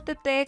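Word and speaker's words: Teté: Mi nombre es Teresa, mejor conocida como Tete con acento en la E, psicóloga de profesión con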